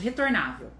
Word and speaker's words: retornável: A palavra de baixo, retornável, ela já tem 4 sílabas. Mas a sílaba forte, a sílaba tônica será ou a última, a penúltima, ou a antepenúltima.